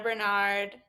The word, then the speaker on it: Barnard: anytime yes perfect so you can follow Bernard it's that's how you pronounce right yes you that no one has